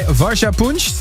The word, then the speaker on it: Varsha Punch: And this was the most favorite track in her personal top 5 by Varsha Punch. That's the way to pronounce it? Yes, absolutely correct.